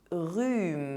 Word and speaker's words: rhume: #8 - The letter H is silent in French There is no aspiration! Un rhume A cold Du thé Some tea But the letters PH together make the sound [f].